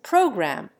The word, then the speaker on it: program: Let an American and an Englishman pronounce program, me. Though the Englishman retains the long form of the last syllable in writing, he reduces it in speaking to a thick triple consonant, grum. The American enunciates it clearly, rhyming it with damn.